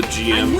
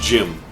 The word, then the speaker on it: GM: this now i know a lot of people pronounce the gm or gm but it's actually pronounced jim uh much like the reason why they did